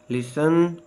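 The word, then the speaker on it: listen: देता जैसे eyelet oil silent T टी इज not pronounce in this common words दरदर अल्फाज में टी आवाज नहीं देता जैसे castle fast fashion लिसन ऑन ससल विसल silent W डब्लू इज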